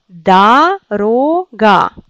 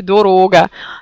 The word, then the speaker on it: дорога: C'est comme ça qu'on prononce, mais ici il faut apprendre que c'est O.